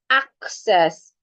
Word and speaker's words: access: The word is access. Access. Access. One sounds like, the first C sounds like a K, and the second C sounds like a S. Access.